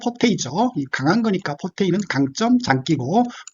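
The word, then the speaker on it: forte: 자, 음악에서는 이태리 발음으로 포르테라고 하죠. 영어식 발음은 포테이죠.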